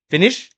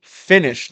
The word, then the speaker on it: finish: But she would say, finish, finish. I love that. You know what I mean? How But it should be finish.